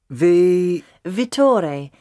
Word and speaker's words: Vittore: Vittore. He's Italian. You spell that V-I-T-T-O-R-E.